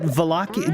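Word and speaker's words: Wallachia: Is it Valachia? Do you? It's a V, right? Or you pronounce it as a V? It's with a W, but you give it a V, similar to certain German words.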